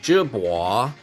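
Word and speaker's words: Jebao: got the jibwa this this brand jbao is actually means wave in Chinese and it's pronounced jibwa anyway um hey these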